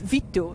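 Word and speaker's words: vittu: it on stage it's Vito it is v i t t u but it would be pronounced as V e e t t u Vito Vito yes it means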